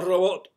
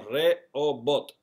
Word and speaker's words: Rehobot: No robot, sino Rehobot.